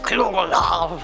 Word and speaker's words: Cthulhu: So Cthulhu is supposed to be pronounced like Cthulhu or something like that, but it sounds a bit like I'm being sick. So as the name comes up a lot, forgive me for sticking with Cthulhu.